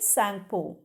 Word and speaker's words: Tsangpo: उधर जो Sangpo कह जाता है, लेकिन उसका जो स्पेलिंग है TSANGPO. Okay, correct spelling you have to write, but you have to pronounce it Sangpo.